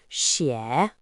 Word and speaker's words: 血: The character xue has another pronunciation, xie.